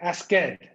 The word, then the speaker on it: asked: So we just take the K and pronounce the T together.